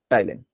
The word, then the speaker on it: ptyalin: T silent है इसमें। ठीक है, PTYALIN, टाइलिन।